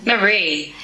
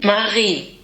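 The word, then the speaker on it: Marie: The British English pronunciation, Maree. and the Kiwi pronunciation, Maree, pretty similar, and the German pronunciation of this name, Maree. So once again, there's that little kind of guttural part that is just so hard for native English speakers to pronounce.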